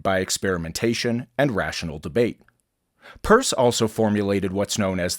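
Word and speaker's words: Peirce: founder of pragmatism that's pronounced purse despite the fact that it looks like Pierce a logician scientist and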